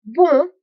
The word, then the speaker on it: bon: These vowels are produced in the nasal cavity and generally occur when the vowel is preceding an M or an N, as in the word vin, vine, or bon, good, and also bonjour, just saying.